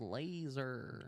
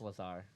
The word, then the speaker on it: Lazar: If you don't believe in aliens, Bob Laser. Google Bob Lazar. Laser. It's Lazar. Laser. It's spelled Laser. Lazar.